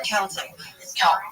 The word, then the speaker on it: Celtic: I don't even Is it Celtic or Celtic? Celtic is the right way to say it.